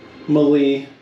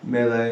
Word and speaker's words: melee: I call it melee melee I think melee is the way you're supposed to say it melee is just wrong if you say it like that you should feel bad anyway uh so just